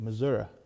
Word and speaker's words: Missouri: You got to say Missouri. Missouri. Yeah, there you go. You I gotta say just say misery.